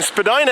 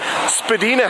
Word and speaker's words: Spadina: Right here we're going to be crossing Spadina Avenue, or Spadina Road actually, north of Bloor.